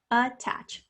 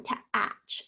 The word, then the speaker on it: attach: Listen to that second one, to-atch. I can hear the a like the cat is at the chair. So that's not it. That's a normal A, short A sound. Attach, ut. That is definitely the schwa sound spelled with the letter A.